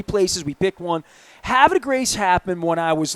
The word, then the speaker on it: Havre de Grace: And you even say it correctly. A lot of city folks and Harvard de Grace. They say Harvard or Harvard just Harvard.